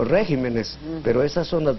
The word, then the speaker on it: regímenes: Régimen, que al volverse plural se convierte en regímenes, y carácter, que al irse al plural se vuelve caracteres. Hay gente que dice caracteres o regímenes, pero esas son las 2 excepciones que confirman esa regla.